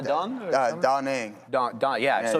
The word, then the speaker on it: Da Nang: Da Nang.